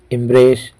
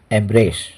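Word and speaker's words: embrace: दर्शकों, इसके दोनों ही प्रोनाउंसिएशन होते हैं, एम्ब्रेस या एम्ब्रेस।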